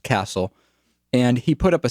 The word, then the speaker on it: Cassell: the guy's name is jack castle or cassell i think it's i think it's pronounced castle and he put up